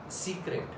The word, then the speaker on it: secret: Now this is in English what we call secret, right? How to pronounce it in French?